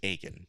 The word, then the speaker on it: Akin: And it says Stephen Akin pronounced Aken.